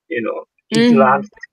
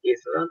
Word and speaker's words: island: a standard, like island, Island. Maybe some people maybe actually pronounce Island or something in England, probably. So, Really? but anyway, now it should pronounce island, not Island. Well, and that's the difficult thing too.